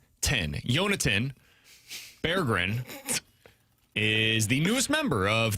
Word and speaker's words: Berggren: Jonathan Berggren. Oh, is that really how you pronounce it? According to Hockey Reference, it's Jonathan Berggren is the newest member of the St.